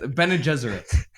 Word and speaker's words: Bene Gesserit: Bene Gesserit.